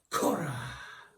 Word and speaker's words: Cora: He was only a temporary measure for Cora. You gotta say it like that.